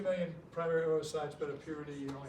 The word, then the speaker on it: oocyte: So the ovarian cycle, which is oogenesis, which means the production of oocyte. I'm not stuttering, that's how they pronounce it.